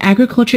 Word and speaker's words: agriculture: of the word agriculture the word agriculture is a noun and it is stressed on the first syllable when we turn it